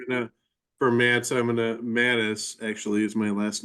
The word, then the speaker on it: Mattis: is not voting Mr mats we do I'm sorry M Mattis is that how you pronounce it yeah thank you Mattis